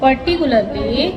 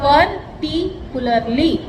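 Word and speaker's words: particularly: I just said still and silent a very hard thing for a teacher to डू प्रैक्टिकल परिकुलर पर्टिकुलरली देखो परिकुलरली देखो तोड़त के बोलो पी ए आर पर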